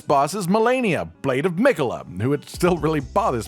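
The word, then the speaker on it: Miquella: And now, without any more beating around the bush, this boss is Melania Blade of Mikola, who it still really bothers me that his name is pronounced that way.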